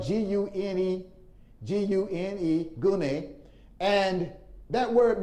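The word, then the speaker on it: γυνή: here it is the greek word grenade which is spelled g-u-n-e g-u-n-e gune and that word means wife it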